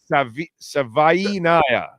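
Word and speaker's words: Savaiinaea: Savainaya.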